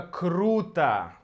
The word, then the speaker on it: круто: Последнее слово – это «круто», «круто». Здесь нет ничего необычного. Мы также меняем «о» на «а», потому что ударение здесь, на «у».